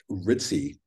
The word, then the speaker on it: RTSE: I think it's called It's pronounced ritzy rtse Revelation through suppressing suppressing exposure so the idea being